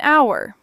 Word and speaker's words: hour: The letter H in the word our is completely silent. So the word sounds like our which begins with a vowel sound.